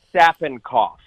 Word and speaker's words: Sapinkopf: how to pronounce it wouldn't even attempt to pronounce it it's an D from sad boy yeah it's an D staffing cough made fun of in school that's why I